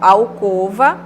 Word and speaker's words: alcova: Mas o correto é omelete, assim como alcova e crosta. Crosta é o O fechado, né? A pronúncia errada que geralmente a gente ouve é aberto, né, com timbre aberto, omelete, alcova e crosta.